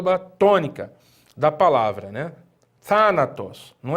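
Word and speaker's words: θάνατος: os thanatos palavra thanatos thanatos é uma palavra que tem três sílabas aonde nós percebemos que a primeira sílaba é acentuada e essa primeira sílaba antepenúltima é porque a última é essa a penúltima é essa e antepenúltima elas é para que ela tenha um acento agudo agudo na antepenúltima silva dando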